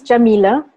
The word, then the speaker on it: Yamile: definitely so first about me my name is jamila that's how you pronounce it my last name is